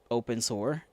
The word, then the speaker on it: Abensur: building in an isolated quarantine district of Abensur, pronounced open sewer.